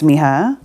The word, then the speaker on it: Mija: about mr skye's belly so my name is miha and miha actually means my daughter in spanish